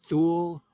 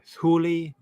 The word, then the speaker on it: Thule: near a mysterious land he called tool or maybe pronounced Thule or thuli or tile there are many possible pronunciations we can't even pronounce